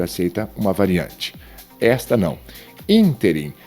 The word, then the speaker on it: ínterim: Ínterim não é interim.